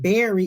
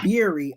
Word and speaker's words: Beery: Beery or her last Beery, like beer, like beer like a with beer. Okay, so I kept saying Berry. It's Beery.